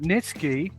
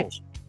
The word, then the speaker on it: Nietzsche: grudge, but given that the thread was about Nitsky, there is no eternity. There is only the void. Wait, What it was the about hell? Nietzsche.